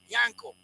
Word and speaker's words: Yaakov: So one of the names of pronouncing Yaakov is Yankov.